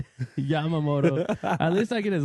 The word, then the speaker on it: Yamamoto: Yamamoto. At least I get his last name right. I used to say Yamoto. Yeah, that's true. Yamamoto.